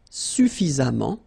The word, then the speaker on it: suffisamment: Then, suffisant, suffisamment. And the last example, élégant, élégamment. All right, so let's repeat them one more time. Patient, patiemment. Récent, récemment. Suffisant, suffisamment.